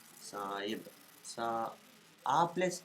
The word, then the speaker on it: Sahib: Sahib and drawing. Where do I will write this to? Sahib. Sahib. Okay, Sahib. Not H is silent. Okay. S B. Big version of B. Saib.